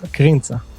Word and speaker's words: Krintza: Tel Aviv our guests karinza is that how you pronounce your name I forgot to ask you before we started almost krinta that's the pronunciation cool cool so hi